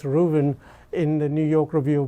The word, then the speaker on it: Ruthven: malice rooven it's written ruthven but it's actually pronounced ruben in the new york review books so we've